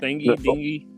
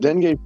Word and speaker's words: dengue: Dingy. No, Dengue? dengue fever. Dengue.